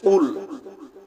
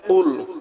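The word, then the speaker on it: قُلْ: কফ লাম পেশ কুল, কফ লাম পেশ কুল। কফ গলার ভিতর থেকে, কফ গলার ভিতর থেকে উচ্চারণ হবে।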